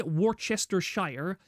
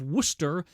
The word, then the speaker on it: Worcester: like Google Warchester source or Warchester Shire as in that's how you spell it and then ask them to say that name. If they say Warchester Shire instead of Worcester, they are a fake Brit and you should kill them immediately.